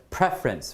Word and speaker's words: preference: a useful question uh so preference right definitely column A the the stress is on the first syllable okay and let's take